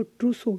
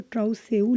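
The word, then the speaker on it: trousseau: और आपको इसकी बात करूँ तो ट्रूसो, इसको हम बोलते हैं ट्रूसो। ठीक है, स्पेलिंग से तो ट्राउसेऊ लग रहा है बट ये ट्रूसो होता है।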